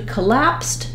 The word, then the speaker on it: collapsed: collapse um uh and then when we get to collapsed because collapse ends with the S sound when we add letters e d they simply say the T sound so this is true